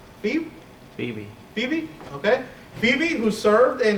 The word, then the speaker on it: Phoebe: First, he pronounced Phoebe. Phoebe, okay.